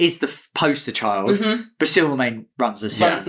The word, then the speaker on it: Silvermane: It's pronounced Silvermane.